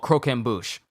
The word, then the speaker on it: croquembouche: know how to say it now it's called croquembouche uh was later stricken by a craving for croquembush and her mental illness made her mindlessly violent